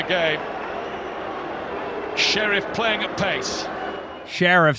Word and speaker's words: Sheriff: Sheriff playing at PACE Sheriff sir it is not Sharif you know I don't